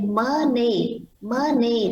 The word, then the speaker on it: money: So when you say money, nó chỉ có một âm M, âm N thôi. Còn khi mình đọc là money, tức là mình đọc hai âm N nha.